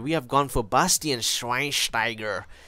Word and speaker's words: Schweinsteiger: Into midfield, starting from the right centre mid position, we have gone for Bastian Schweinsteiger. You have to say his name with the German accent.